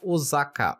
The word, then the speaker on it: Osaka: falar Osaka ou Osaka Porém na pronúncia japonesa há um prolongamento do o tanto que no furigana acima do kanj possuem duas vezes o hiragana o e o saka é pronunciado com s e não Z ficando o sacá e a segunda observação